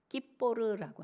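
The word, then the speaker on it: גיבור: 자, 그런데 여기서 전능자, 이 전능자가 히브리어로요 좀 재밌는 발음입니다. 끼뽀르라고 합니다.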